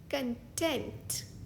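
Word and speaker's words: content: book is quite intrigue इस शब्द का दूसरा प्रोनंसिएशन है कंटेंट यानी कि satisfied for example I एम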